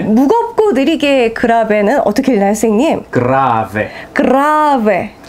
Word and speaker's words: grave: 무겁고 느리게 그라베는 어떻게 읽나요, 선생님? 그라베. 그라베. 그라베. 이탈리아어 할 때 이렇게 하는 거 맞나요? 이게 발음을 많이 굴려주면 좋습니다.